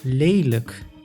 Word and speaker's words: lelijk: Exception, when a word ends on lijk, then it is pronounced as luk, like in lelijk, which means ugly.